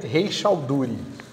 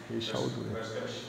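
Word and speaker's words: Raychaudhuri: Tá, se você pronunciar em português é Rei Chalduri. Aí você fala alguma coisa rápida parecida com isso, que cola, tá? Rei Chalduri.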